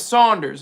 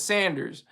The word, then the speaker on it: Saunders: my last name is Saunders it's very easy people mispronounce it as Sanders my first name is